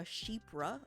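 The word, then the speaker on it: chypre: A sheepra apparently is how you pronounce it.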